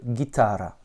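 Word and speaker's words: гитара: et à air à avec un accent tonique sur le cas du milieu guitare richard haas avec une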